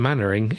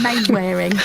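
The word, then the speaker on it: Mainwaring: But he spelled Mr. Mannering exactly the way it should be spelled. As in M-A-N-N-E-R. Yeah, mannering. Exactly, yeah. Instead of mane wearing.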